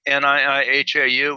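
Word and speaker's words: Niʻihau: you pronounce every letter so like niihau which is the island off kauai it's hao so you pronounce both eyes well that's just okay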